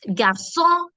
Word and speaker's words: garçon: And that's thanks to the cédille accent that we have. This cédille accent helps us give the S sound. So it's garçon, français, leçon, reçu, façade. So this changes the sound of the C, which is a hard K sound, to a soft S sound.